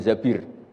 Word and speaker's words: Zabir: Kemudian saya nikah sama Abdurrahman bin Zabir. Di hadis ini bacanya bukan Zubair tapi Zabir.